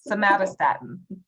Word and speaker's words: somatostatin: Somatostatin.